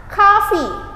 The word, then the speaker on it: coffee: gimana coffee ini disebutnya bacanya seperti ada huruf k nya karena dalam bahasa Inggris memang seperti itu ini bukan huruf o dibacanya kita ubah huruf a coffee sedangkan huruf E itu dalam bahasa Inggris disebut cara bacanya i jadi kita baca coffee ya coffee Do you